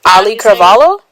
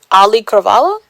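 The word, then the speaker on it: Auli'i Cravalho: Ali Carvalo. Say again. Ali Carvalo.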